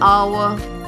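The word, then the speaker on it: hour: ठीक है, एन आवर, घंटा जिसके लिए हम यूज़ करते हैं, एच साइलेंट है इसमें, तो क्या है, जहाँ पर भी वावल साउंड होगी अ, वहाँ क्या यूज़ होगा, एन.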